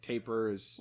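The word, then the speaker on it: tapir: little noses taper yeah t tape beer might be the proper way to say it but i think tapers accepted um but they almost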